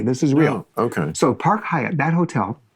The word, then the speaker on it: Park Hyatt: this listen no okay that hotel is called the park haat or in Japanese pah haay that's how you say it really no seriously